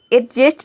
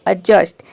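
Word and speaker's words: adjust: करते हैं देखते हैं एग्जांपल जैसे कि है एडजस्ट इसको हम एडजस्ट नहीं बोलते हैं या फिर अड एडजस्ट नहीं बोलेंगे इसको बोलेंगे अजस्ट यानी कि डी यहां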